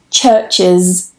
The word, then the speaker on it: churches: Churches, churches, or churches, churches. So you can say it with a schwa or an I.